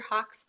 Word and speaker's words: Hauck: Hauck's bio. And earlier I was asking if I was pronouncing your name correctly.